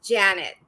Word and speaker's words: Janett: i'm pronouncing it correctly it's janet but i'm still waiting for a last name if you find one for me i appreciate it like like two first names susan janet always there